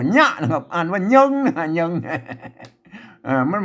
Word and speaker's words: เยิง: มัน มี ตัว ยะ นะ ครับ อ่าน ว่า เยิง เยิง เ่า มัน บ่ มี เยิง นะ ครับ